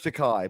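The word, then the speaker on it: Takei: we all love George takai but uh his Feud was okay it rhymes with toupee we all love George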